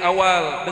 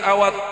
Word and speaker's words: Awadh: Di kalangan mereka, beliau lebih dikenal dengan namanya yang khas, yaitu Said Awal dengan huruf L, dengan akhir huruf L, bukan Said Awad dengan huruf DH.